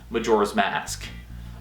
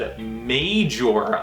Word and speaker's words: Majora's Mask: my collection I need Majora's Mask but uh I I've said it right that time I said a major last time but yeah Majora's Mask um so yeah this